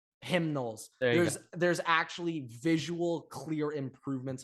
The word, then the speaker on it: Knowles: Ohio State's defense, I've just been blown away how the new D coordinator, Jim Knowles, has actually turned it around. All right, sorry, like, say his name right. Knowles.